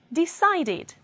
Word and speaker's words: decided: past will be needed decide ends in d pronunciation and the past will be decided we need to bear